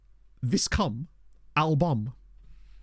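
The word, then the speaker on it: viscum album: what a wonderful name thisum albam and it yes it should be pronounced that I know because I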